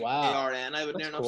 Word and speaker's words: Aaron: So, you guys, it's like phonetically you go like Aaron, and then like over here it's a harsh like Arn.